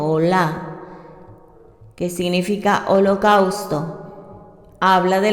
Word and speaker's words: Olá: Habla, número 1, de las ofrendas Olá, con acento Olá, que significa holocausto.